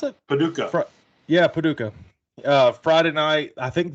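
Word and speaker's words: Paducah: and Saturday um Boko is that how you pronounce it Paduka yeah Paduka uh Friday night I think this is the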